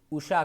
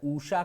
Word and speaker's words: उषा: इसमें छुटा ऊ है, यानी उषा काल होता है, ऊषा काल नहीं होता है।